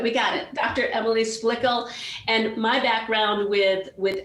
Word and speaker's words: Splickle: richie said to me she rhymes with pickles splickle okay good we got it dr emily splickle and my background with